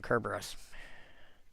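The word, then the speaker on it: Cerberus: The C in, you know, the C in Caesar should actually sound like a K. And that's why I constantly call him Kerberus.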